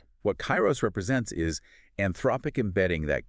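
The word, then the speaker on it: KAIROS: an unannounced system called Chyros that is spelled K A I R O S. The code reveals Kyros is fully built and it functions as an autonomous demon mode for quad code.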